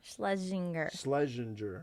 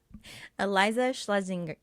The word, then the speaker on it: Eliza Schlesinger: ever going to watch this but eliza schlesinger sledzinger this is awesome eliza schlesinger oh great now you're making me say it